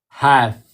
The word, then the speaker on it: half: Remember the LF makes the sound of f. Yeah. So, what's this word? H have half.